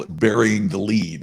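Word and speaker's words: lede: In journalism, they call it burying the lead, right?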